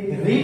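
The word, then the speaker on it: read: Third form आप जाने, रीड, रेड, रेड। Spelling तो वही होती है, लेकिन पढ़ने में प्रोनाउंसिएशन में उसका हम ध्यान देते हैं कि रीड का रेड हो जाता है।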